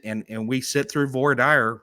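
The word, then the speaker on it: voir dire: It's called vor dire. And I know that there's different pronunciations for it, but it's French for meaning something. I don't remember what it was, but vor dire.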